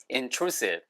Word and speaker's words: intrusive: 이거의 형용사형은 D 발음을 탈락시키고 intrusive 하고 s를 바꾸는 거 이전에도 보셨죠? intrusive.